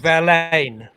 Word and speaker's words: Verlaine: in the english um it's uh rain rhymes with verlaine and there's a slight